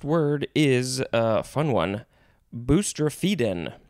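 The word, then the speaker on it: boustrophedon: is a fun one boostrefiden i think that's how it's pronounced p b-o-u-s-t-r-o-p-a e d o n booster feedin this is a noun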